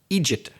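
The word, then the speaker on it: eejit: And I'm sticking with another regional word, Egypt.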